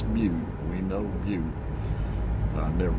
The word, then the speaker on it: Butte: I guess Well, I know it's pronounced Butte. I've heard it too much, but the I guess I could call it Bud. Uh, it's Butte.